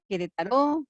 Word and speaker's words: Querétaro: Sí, decía yo ayer que Querétaro, pero es que uno puede pronunciarlo con acento, sin acento. Querétaro, Querétaro es la palabra más bonita del español, que significa juego de pelotas.